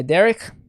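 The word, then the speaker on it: דרך: you go that's my derrick and the accent is on the first one the first uh syllable with derrick so that means and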